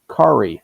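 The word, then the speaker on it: Kaare: He said it's easy. Kari like Atari Andy.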